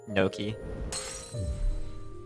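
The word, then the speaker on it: gnocchi: Sort of based on just, I feel like it would be pronounced like that because Noki is a food pronounced Noki.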